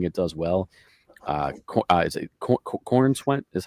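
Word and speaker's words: Corenswet: Is it Corn Sweat? Is how you say his name? Yep. Corn Sweat.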